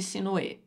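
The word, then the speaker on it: Sinuhe: que eu vi pessoal os hs dos nomes próprios aí do Egito não são pronunciados né eles não TM aquele som de R mas eu tenho um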